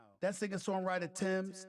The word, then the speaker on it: Tems: how that second songwriter Tim's t-e-m-s is how she has these uh how they pronounce the name made a bold-fashioned statement